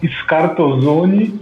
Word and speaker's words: Scarzone: procurar lá por scarzone é um sobrenome meio difícil de pronunciar porque tem um s mudo dois Z no meio mas acho que vai